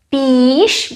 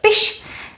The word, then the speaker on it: piš: Remember the word psát, it's not píš, but piš, and also here it's short, řiď.